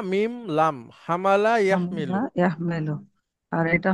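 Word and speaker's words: حاملة: হুম, আচ্ছা, হা মিম লাম, হামালা হামলা ইয়াহমিলু। ইয়াহমেলু। আর এটা হবে ইহতামালা। গুড। ইয়াহ ইহতামিলু। ইয়াহতামিলু। ইয়াহতামিলু। হুম। আচ্ছা, এই দেখেন হামালা ইয়াহমিলু, বহন করা, হ্যাঁ।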